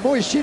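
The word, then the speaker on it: Mujčin: Alors Moichine parce que ça se prononce bien comme ça malgré l'orthographe de son nom et Bosniac et il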